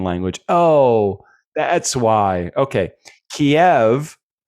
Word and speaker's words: Kiev: Kiev derived from the Russian language and Keev derived from the Ukrainian language.